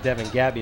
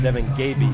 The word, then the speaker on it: Devin Gaby: I think I pronounced it Devin Gabby. It's Devin Gaby, by the way, the receiver for the Patriots.